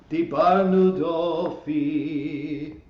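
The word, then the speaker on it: דיברנו דופי: Well, the way I was taught, and the way there actually are clues in the text for this, is that the words are pronounced Ashamnu, Bagadnu, Gazalnu, Dibarnu Dofi.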